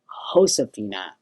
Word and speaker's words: Josefina: that would be um josefina like jose or jesus that kind of thing when you see a capital j um and it's a